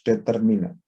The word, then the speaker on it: determine: Second syllable the stress, Pak. Okay. The second syllable is stress ya.